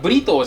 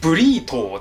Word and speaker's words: burrito: 今回のはアメリカ発音的にはブリトーじゃなくてブリートーですけど、今